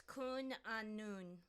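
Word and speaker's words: Cwn Annwn: Apparently it's Kun Anun.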